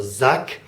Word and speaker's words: sagt: that's just an A then we have a duck now that sounds like a K and I suppose it could be written with a cave but in this case it's written with a G a G at the end of a syllable might sound like a K at times it just depends and here it does so suck now before I finish